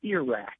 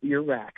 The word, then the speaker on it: Iraq: and he said it's ear rack and he pointed to his ear and because this isn't a 90 and he said it's Iraq pronounce it that way and um I just